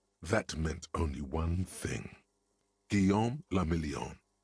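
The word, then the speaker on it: Guillaume Le Million: meant only one thing Gom lilon if it doesn't rhyme you're not pronouncing it right that's true out of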